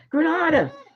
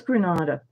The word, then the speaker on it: Granada: Anyway, I'm pronouncing it wrong. Granada. Thank you. Oh, thank you. Is that Siri? No. Sinir. Thank you. It was Granada.